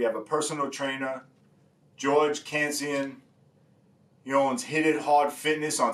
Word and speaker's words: Kantzian: Is that how we pronounce it? It's Kantzian.